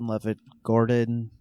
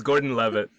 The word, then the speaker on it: Gordon-Levitt: Joseph Levitt Gordon. I hope I pronounced his name right. No, I butchered it. Joseph Levitt Gordon. He was completely It's the other way, Fahad. What is it? It's Gordon Levitt.